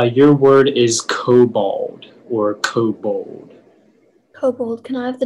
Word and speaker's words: kobold: origin please yeah uh it's a german word k o b o l d kobold perfect next up we have speller143 hi